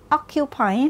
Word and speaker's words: occupy: trên Vầng thứ hai trong khi đó từ occupy lại giấ trọng âm trên Vầng thứ nhất vậy t của chúng